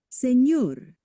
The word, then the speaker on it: señor: mañana, But then when we add the squiggly, right, the tilde, that's when it becomes like a NY, like canyon. Nya, nya, nya. Okay, so let's listen. señor, baño, niña, Okay, so